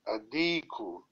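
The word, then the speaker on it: الديك: Adiku. Lam is silent. No, Adiku, Adiku, the rooster.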